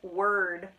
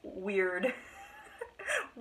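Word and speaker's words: Wyrd: the word it was it was literally w-y-r-d and it apparently it's pronounced word um and I most definitely was pronouncing it weird marks yeah I don't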